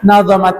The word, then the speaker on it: nadhamat: Wa hadza silkun nadhamat, maka nadhamat ini boleh dibaca dha-nya tasydid atau tidak tasydid ya, tetapi yang lebih fasih adalah tanpa tasydid.